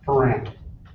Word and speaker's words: Foran: Ferran. Spell that for us.